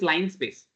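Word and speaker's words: linspace: we can use this line space line space the spelling of line space l i by the pronunciation we are calling line space okay spelling is different pronunciation is line space okay PR okay NP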